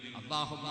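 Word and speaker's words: اللهم: പേരിനോട് വല്ലാത്ത ബഹുമാനം വേണം അതുകൊണ്ടാണല്ലോ അല്ലാഹുമ്മ എന്നല്ലേ എഴുതുന്നത് അള്ളാഹുമ്മ എന്നല്ലേ പറയുന്നത് ലാം അല്ലേ എഴുതുന്നത് പക്ഷേ ലാം അല്ലല്ലോ ഉച്ചരിക്കുന്നത് അതേ ലാം തന്നെയാണ് പക്ഷേ ആ ലാമിന്റെ ഉച്ചാരണത്തിൽ ലാം ഉച്ചരിക്കുന്ന അതേ സ്ഥലത്തും തന്നെ ഉച്ചാരണം പക്ഷേ അള്ളാഹുമ്മ എന്നാണ് പറയുന്നത് അള്ളാന്റെ പേരിൽ ഒന്ന് പണ്ഡിക്കാനാണത്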